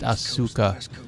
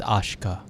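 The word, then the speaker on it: Asuka: You look Her name looks like it would be pronounced Ashuka, but it's Ashka.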